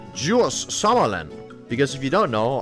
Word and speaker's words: Djurs Sommerland: It is pronounced Jus Summerland because if you don't know I do not live in an English-sp speakaking country.